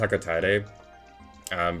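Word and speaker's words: Hocotate: And I know it's probably is accurate because that likely is how you would pronounce it with like Japanese pronunciations and how that language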